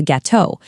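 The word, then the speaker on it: gâteaux: For the majority of nouns, the singular and plural forms are pronounced in exactly the same way. Melon sounds identical to melons. Gateau sounds identical to gateau. That final written letter is purely for the eyes, not the ears.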